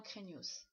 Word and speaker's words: craignos: vocabulaire du jour à craignos qui craint qui pose problème qui fait peur il ya toujours un s à la fin qu'on prononce c'est vraiment craignos et le verbe qui